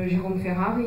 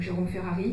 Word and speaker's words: Ferrari: Par exemple, Jérôme Ferrari, qui était venu l'année dernière, ou Jérôme Ferrari, pour le prononcer comme on dit ici, Philippe Huette, Carole Zalberg, Claro, Emmanuel Pagano, Valérie Bregen, Paco Thielman, ou Yves Charnay.